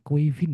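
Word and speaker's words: Caoimhín: Ini ternyata bacanya adalah kuivin guys. Kuivin keleha. Quivin kelehah. Quivin kelehah. Yes. Kuivin tulisannya hin teman. Bayangkan jauh kan? Ini adalah nama Kevin dalam bahasa Irlandia, bahasa tradisional Kevin.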